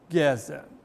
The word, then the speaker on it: Gezer: Eu prefiro Gezer, pois é assim que se pronuncia o hebraico bíblico.